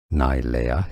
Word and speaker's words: Nilea: Nilea is how you pronounce her name. A name of Hawaii Hawaiian origin meaning beautiful eyes.